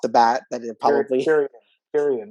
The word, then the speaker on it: Tyrion: Well, it's spelled Tyron. Tyrion, yeah, it's Tyrion.